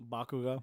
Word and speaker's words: Bakugo: Bakugo.